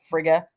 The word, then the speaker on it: Frigg: The death of Balder being he was the son of Odin and Frigg, Frigg. Some people pronounce it Frigga, but there was a woman who was a seer who saw Balder dying.